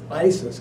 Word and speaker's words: Isis: one of the episodes I wasn't sure how to pronounce the name of the show it's us or Isis so when I met her I asked her I said John that he pronounces Issus or Isis she said it's Isis Captain Marvel we're not